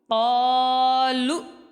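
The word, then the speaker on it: قالوا: لام کو حمزہ کے ساتھ ملائیں گے، قاف الف زبر قا. لام حمزہ پیش لو، قالو.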